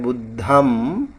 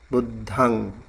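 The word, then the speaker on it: buddhaṃ: uh budang it's uh it's like uh a nasa sound um and you don't really close your lip when you say when you say like Amrut I said I heard him pronouncing like budam uh you don't have to close your lip, you have to open it.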